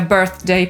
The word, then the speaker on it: birthday: i żeby być bardziej „gangsta”, nie wymawia „birthday” przez poprawne /θ/, tylko przez /f/. Ale my, póki nie nosimy łańcuchów i nie śpiewamy rapsów, trzymajmy się może tej poprawnej wymowy.